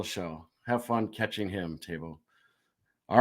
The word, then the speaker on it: Teuvo: And I still want to say Tuvo because that's what it looks like, but it's Teuvo Teravainen.